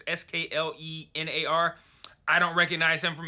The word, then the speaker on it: Sklenar: I'm not sure how to pronounce his last name. It's Sklenar.